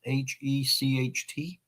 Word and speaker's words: Hecht: I think that's how you pronounce it, Hecht.